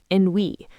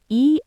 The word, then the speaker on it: ennui: There's a wonderful French word for this feeling, ennui. It's spelled E-N-N-U-I, ennui.